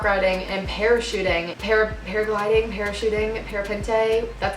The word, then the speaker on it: parapente: Paragliding, parachuting, parapente.